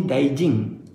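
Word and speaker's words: 大臣: Sorry bukan Daiji ya, sorry Daijing. Ada N kat belakang tu, tapi pronunciation dia kita pronounce dia sebagai NG.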